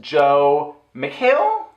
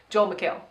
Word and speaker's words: Joel McHale: and the guest judges are Tiffany Pollard and Joe McHale or just Hale Joel that's what I said boys did Joe no Joel Joe McHale Joe Joel McHale I said it right yeah first time you